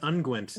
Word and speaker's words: unguent: is it's first grade it is ungwent i just love the